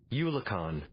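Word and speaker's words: eulachon: Eulacon. I don't know if that's how it's pronounced. I was hoping they would just have the thing there, but the AI, man, the AI. YouTube. Eulicon.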